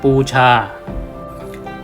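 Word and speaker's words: पूजा: ที่ ตัว อักษร เทวนาครี คำ แรก อ่าน ว่า ปู- ชา เรา เขียน แบบ แบบ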